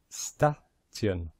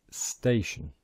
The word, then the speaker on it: station: pronounced this corre incorrectly maybe you would have pronounced it staan or statian which is wrong but if you know IA you will know that the pronunciation is station so very important try to